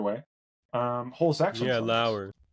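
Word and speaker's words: Loewer: whole by Barry I'm going to say his name wrong lower lower l o e w r either way um whole section yeah ler L thank you um yes uh and and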